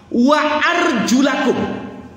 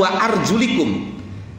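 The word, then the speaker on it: وأرجلكم: Wa arjulakum. Imam Asim bacanya bukan wa arjulikum.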